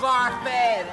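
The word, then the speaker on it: Barfée: William Barfy. It's pronounced Barfy.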